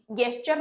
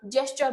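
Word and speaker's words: gesture: चाहती हूं मेरी फीलिंग्लेस अब गेस्चर मत बोलना जेस्चर बोलना ओके फिफ्थ वाला है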